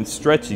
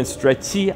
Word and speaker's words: stretch: 이거는 stretchy 아닙니다. Stretch. Stretch. 그냥 ch 발음 그냥 따로 하시면 돼요. e 없이. e 소리 들어가면 안 돼요. So stretch.